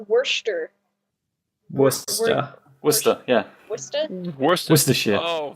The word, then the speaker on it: Worcester: pronounce Worcester? Worcester.